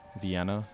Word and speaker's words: Vienna: some troops here to Venna Vienna not vana vienna to defend what is